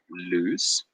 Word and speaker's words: lose: as being loose so there's a slight difference in pronunciation so if I write them down like this number one loose number two lose if you listen closely number one has a slightly longer sound loose and number two is